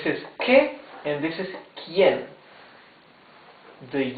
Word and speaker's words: quién: Que means what. Here it says quién. Quién. Quién means who. You can see that the U is muted.